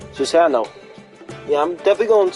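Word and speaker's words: Susanoo: Also, when I searched up Susano's pronunciation, it's apparently the way how they spell the pronunciation is so sa now. In other words, they spell it SOOZAANOW. Susano.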